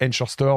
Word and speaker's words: Ankorstore: Tu sais, c'est les Encore Store aux États-Unis.